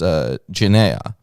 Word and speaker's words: genea: So here, the Greek word for race is genea. So like a genetic line. Yeah, it can be race, nation, generation, according to context. Yeah. So maybe this is an explanation for, Pronounced Genea, by the way.